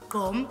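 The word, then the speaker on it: gqom: Gom is spelled G-Q-O-M, but pronounced gom.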